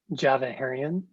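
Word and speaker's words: Djavaherian: sure it's um java herrion and it's spelled c a e s a r d j a v a h e r i a n so the d is silent basically thank you now i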